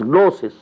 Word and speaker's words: gnosis: g-goo gnosis but it is spelled it is pronounced as gnosis the knowledge the Marfa the cognition recognition you